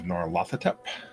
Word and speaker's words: Nyarlathotep: I'll let you say the campaign, Professor, because you pronounce it better. Masks of Nyarlathotep.